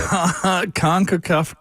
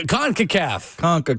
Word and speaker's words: CONCACAF: CONCACAF Cup. There you go. CONCACAF.